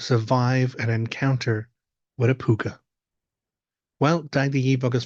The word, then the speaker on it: púca: And one very famous one is a creature known as a puka. So that is spelt P-U-C-A or Pooka if you want to Google or look it up.